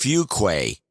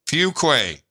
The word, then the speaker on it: Fuquay: hometown and the pronunciation keeps getting mangled it's pronounced Fuquay Fuquay got it Fuquay I know it is a